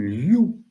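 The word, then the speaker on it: 六: Cela s'exprime liu. Et liu a une prononciation voisine du mot prospérité.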